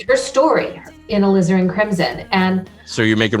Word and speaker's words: alizarin: one uh how do you say that again alvison crimson oh alizarin crimson yeah that was that was i don't